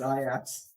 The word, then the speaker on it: Ajax: schmeichel Pedro rookie foreign I don't know why I don't think for iax it's not Ajax it's Ias now there's there's some bad